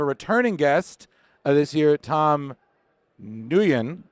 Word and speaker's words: Nguyen: We got a lot of great guests here, and we have a returning guest this year, Tom Nguyen. The G is silent, everyone, and we have him back here.